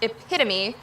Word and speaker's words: epitome: colonal is pronounced kernel epitome is pronounced epitome or that super califragilistic